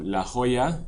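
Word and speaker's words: La Jolla: you're familiar with San Diego area you know La Hoya with two L's it's actually spelled with a Y Hoya means Jewel so HOAs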